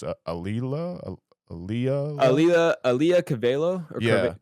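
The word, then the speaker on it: Auli'i: How do you pronounce it again? It's Aaliyah.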